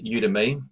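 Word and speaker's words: Udimi: So let's take a look at the other site now, which is Udemy, but this one is spelled U-D-I-M-I.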